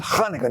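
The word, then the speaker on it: Chanukah: there's the Jews with Kaneka. Notice I say it like a Jew.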